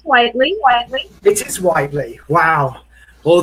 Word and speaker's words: Whiteley: looks to me like it's Whiteley, but you spell it. You say Whiteley, don't you? It's Whiteley.